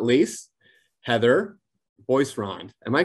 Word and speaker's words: Boisrond: And last but certainly not least, Heather Boisrond. Am I pronouncing that correctly?